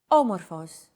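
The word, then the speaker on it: όμως: a language is intonation did you notice the accent mark above the first letter there is only one type of accent mark in modern Greek the acute accent it adds stress to a syllable a stress syllable usually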